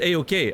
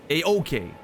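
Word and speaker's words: Eochaid: It's an Irish Gaelic word. It's pronounced... Oh, it's actually pronounced A-OK. Oh, okay. Well, there we go. I thought Bullvine was making a joke. It, you know. Make sure you stress the second syllable, not the first.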